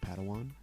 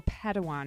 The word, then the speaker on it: padawan: a pad one to this bold jedi it's pronounced padawan oh padawan excuse me hey it's getting late i think